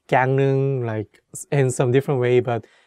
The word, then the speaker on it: 강릉: And although it has the consonant ㄹ (rieul) which is for “l” sound, when we say it, we change it to “n” sound so it becomes 강릉 (gangneung), not gangleung.